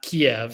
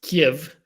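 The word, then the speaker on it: Kyiv: out recently uh that kiev in ukraine is not kiev it's kiev you know okay so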